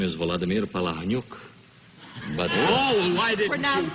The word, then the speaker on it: Palahniuk: Now, how do you prefer to have your name pronounced, and how is it too often mispronounced? Actually, my name is Vladimir Palahniuk.